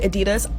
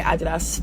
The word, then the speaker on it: Adidas: I know Americans say Adidas, I'm British, so I'm just gonna say Adidas, but yeah, Adidas x